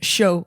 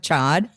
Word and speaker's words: chaud: Like in French, chaud is hot, right? Chocolate chaud, like hot chocolate. I wouldn't be like, can I have a chocolate chad? Like, feel free to say it correctly.